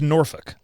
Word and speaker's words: Norfolk: It's pronounced Norfolk.